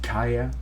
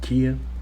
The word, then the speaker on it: Kia: By the way, I just realized they pronounce it Kaya and not Kia.